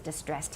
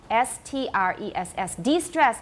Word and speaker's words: de-stress: Nobody's distressed here. 都很轻松 So it's D-E-S-T-R-E-S-S. De-stress means 原来的重音把它拿掉 Okay? De-stress, not distress. D-E-S-T-R-E-S-S. De-stress.